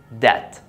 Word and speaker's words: debt: But when it's before T, as in debt, subtle, doubt, and doubtful, also you don't pronounce it.